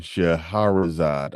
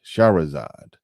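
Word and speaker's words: Shahrazad: I'm bad with names sha rzad it's not sha okay I didn't say hair but I had I've been saying Sharad Ali but it's shahzad shahazad not sharazad okay added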